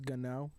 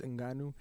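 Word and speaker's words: Ngannou: and it's funny how at first they didn't know how to pronounce his name so they said francis gunnau and that's what they were that's what joe rogan everybody was calling him until they finally found out it was franz inganu and basically the story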